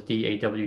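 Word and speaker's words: DAW: mentioned da dan you you pronounce it by the initials d-a-w just for those of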